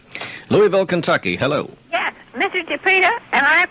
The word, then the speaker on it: Giuffrida: you so long Louisville Kentucky hello yes Mr ja am I pronouncing your name correctly is correct and thank you ma'am all right